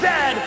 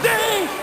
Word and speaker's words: Z: a Chesterfield is a coach and it is pronounced Zed not Z Zed Canada is the second largest land mass